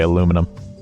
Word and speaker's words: aluminum: and Canada as well North America we say aluminum for that metal but in the UK